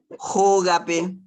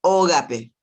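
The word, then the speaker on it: hógape: Pablo, te quiero decir, cuando decís Jógape, vos dijiste Ógape. Y la H en guaraní se pronuncia como J, ¿sí?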